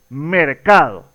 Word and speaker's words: mercado: Si nos damos cuenta, la mayor fuerza de voz se ubica justamente en la sílaba central en este caso, y esta sílaba es la sílaba tónica de la palabra.